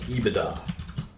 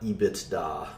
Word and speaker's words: EBITDA: uh sometimes call this ebitda that's how you pronounce it uh not ebitda but it's earnings before